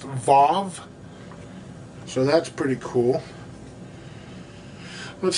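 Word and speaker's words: וו: a w uh but their W's are pronounced with a V sound so it's it's pronounced VAV so that's pretty cool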